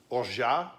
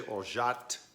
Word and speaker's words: orgeat: Some people say Orgeat with a T on the end. It's an alternate pronunciation, but seeing that it's originally from France, it could go either way. Most likely Orgeat.